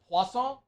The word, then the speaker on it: Poisson: Thank you to Drake Poisson. Did I say it right? Poisson?